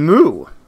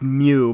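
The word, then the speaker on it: Mu: I guess that means if Agent CT had gotten an AI, it would have been Moo. I know it's pronounced Mew, but I didn't know that before I wrote this joke.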